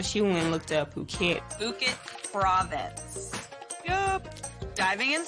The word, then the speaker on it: Phuket: But, you know, it's not pronounced myself where it's actually Phuket. And Sarah has a book on Thailand, so she went and looked up Phuket.